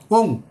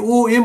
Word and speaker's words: ওং: একটু ভেঙে বলে দিই ওং ও এন জি ওং অনেকে ও এম বলে ভুল উচ্চারণ বলবেন না ওং হুং এইচ ইউ এন